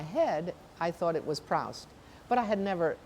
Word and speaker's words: Proust: And in English, OU is usually ow. So in my mind, in my head, I thought it was Proust.